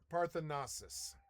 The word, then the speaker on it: Parthenocissus: Pronounce this word. Parthenosis. I'm going to type it. Parthenosis.